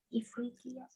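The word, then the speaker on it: إفريقيا: Apa sih bacanya? Ifriqiya.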